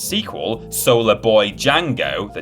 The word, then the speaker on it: Django: in your hand and its sequel solar boy django the d is silent reviewed well both in the east and